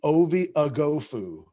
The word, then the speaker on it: Ovie Oghoufo: I am all aboard the Ovie Oghoufo.